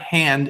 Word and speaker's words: Hand: song because the word hand is the same in German. You just pronounce it a little different, Hand, but it's the same spelling.